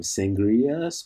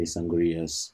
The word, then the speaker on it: Sangrias: know actually my my I pronounce my name sangrias but I just sometimes when I say sangriaas because so many people say that there's so many people pronounce my name that way for some reason probably because of the drink sangria but my name has